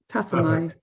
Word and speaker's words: Tassomai: And finally, last but certainly not least, is Morrison, founder of Tassomai. Am I pronouncing that right? Tassomai. Good.